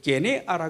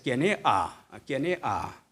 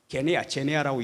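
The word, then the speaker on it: γενεά: 그래서 게네아, 제네아라고 읽지 말고 게네아, 헬라식으로 읽을 때 이게 영어식으로 할 때는 이 G자 발음이 지읒자 발음으로 나버려요.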